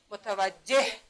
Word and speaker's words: متوجه: ببینید متوجه در قسمت آخرش آیا صدای ه تلفظ میشه؟ متوجه. بله. پس چی میشه؟ ما در قسمت آخر صدای ه را تلفظ میکنیم، درست است؟